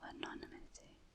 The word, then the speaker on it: anonymity: So I guess I kept that level of anonymity. Anonymity, that's how you say it.